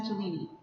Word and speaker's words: Cellini: So it's pronounced Cellini.